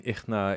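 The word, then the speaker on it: إحنا: And then ichna in, or ichna, sorry. I always want to say cha now, but it's ha, right? Ichna. Then he has some Syrian dialects say nichna.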